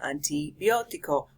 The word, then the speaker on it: antibiótico: So the A is not pronounced an, the I is not pronounced I, an I, a-I, antibiótico.